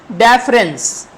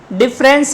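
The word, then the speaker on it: deference: आज के सेशन का पांचवा वर्ड देखेंगे हम डेफरेंस। डिफरेंस नहीं पढ़ना है, डिफरेंस की स्पेलिंग भी अलग है और अर्थ भी अलग है।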